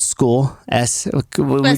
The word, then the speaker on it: Skool: on the platform called School. Did you make the joke about it or whatever? I did. I was like, yeah, that's actually what it is. That's how it's spelled. SKOOL. There's a platform called School,